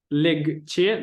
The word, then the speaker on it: легче: это пишется как легче, но мы не говорим легче, мы говорим легче.